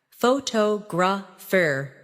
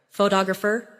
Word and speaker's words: photographer: For example, photograph, photographer, and photographic. The stress moves, and that changes the sound. Try saying them slowly after me. Photograph, photographer, photographic.